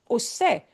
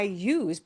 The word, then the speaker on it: usé: Usé becomes not I used, but I used. Usé. You cannot say it as use. For somebody to understand that you mean I did this, you have to punch the e at the end.